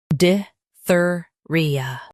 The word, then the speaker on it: diphtheria: Stress thir in both. Soft ia. Diphtheria.